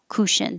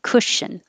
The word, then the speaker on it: cushion: in took and good so don't round your lips cushion i have to round a little for the shh but not too small or it'll be ku kushin it's not cushion it's k so no rounding cushion beehive beehive and